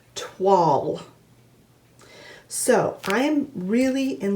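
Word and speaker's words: toile: Well, we did a little bit of research and it's actually a French word and it's pronounced tw.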